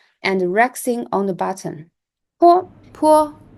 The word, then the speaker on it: 坡: 坡 it sounds like the letter P in the word pat, but it is aspirated,